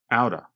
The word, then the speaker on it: out of: truck thanks I noticed they said out of quickly so it almost sounds like one word outa Jill do you know